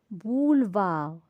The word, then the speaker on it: boulevard: Boulevard. E, je la prononce pas. Je dis pas boulevard. E est muet au milieu du mot.